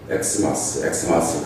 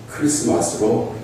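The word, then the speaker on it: Xmas: X로 보이는 그 글자는 그리스 알파벳에서 키라는 글자인데, X로 쓰지만은 그 발음은 크리스 할 때, 크라이스트 할 때 그 크 발음과 같게 됩니다. 그래서 크리스마스를 엑스마스로 쓰지만은 읽을 때는 크리스마스로 읽어야 하는 것이죠.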